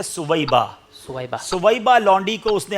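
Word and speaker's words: ثویبہ: اس نے اپنی لونڈی سویبیہ کو آزاد کیا تھا، اس سبب سے اس کے عذاب میں تخفیف کی جاتی ہے۔ اس کا صحیح تلفظ ہے سویبہ۔ سویبہ لونڈی کو اس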